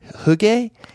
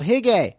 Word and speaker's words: hygge: It's called hygge. It's H-Y-G-G-E. Okay. Yeah. Hygge. And listeners, look it up. Hygge.